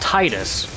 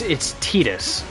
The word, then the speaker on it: Tidus: His name should be pronounced Titus, right? Like tide, the water. But it's not. It's Tidus.